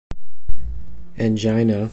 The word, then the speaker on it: angina: Angina, or angina, depending on how you pronounce it, is the topic for this video.